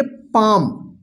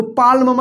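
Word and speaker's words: palm: का मतलब जन समूह पी ए एल एम देखिए एम से पहले एल आया है देखिए तो यहां पे एल क्या होगा साइलेंट होगा इसको पढ़ेंगे पाम पाम का मतलब होता है हथेली इसको पालम मत पढ़िए ठीक है पी ए एल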